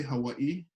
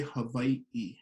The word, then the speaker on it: Hawaiʻi: h-a-w-a-i-okina i so we we got to make sure we pronounce all of those letters including the okina so if you can repeat after me yeah you can also say hawaii hawaii hawaii but when